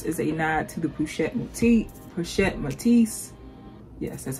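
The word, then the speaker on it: Pochette Métis: It reminds me of the Cassie, and the Cassie, of course, is a nod to the Pochette Matisse.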